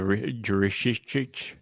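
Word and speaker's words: Jurišić: The Jurishich. That's me. Nice stumble, dude. I didn't stumble, that's how you say it.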